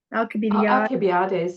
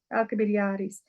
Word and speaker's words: Alcibiades: Alcibiades is probably the right pronunciation. Yes, Alcibiades.